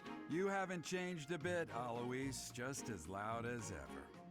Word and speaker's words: Alois: Not Alloy. Alois.